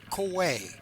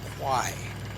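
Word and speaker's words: Khwae: The word koi k h w a e in the Thai language means tributary. In World War II, Englishspeaking prisoners mispronounced the word koi as quai.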